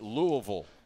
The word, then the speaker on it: Louisville: up in uh Louisville Kentucky and I am pronouncing it right Louisville yes sir uh basketball a lot of basketball